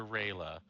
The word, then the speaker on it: Rela: Is it Rela? Is that how you say it? You're muted, by the way. That's correct, yeah. Okay. So we're going to change scenes over to Rela.